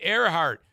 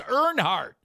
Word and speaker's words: Earhart: Oh, yeah, you got it right, Earhart.